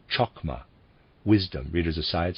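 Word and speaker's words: Chokmah: the right ear as it were was called chakma wisdom readers aside spelled c-h-o-k-m-a-h and it readers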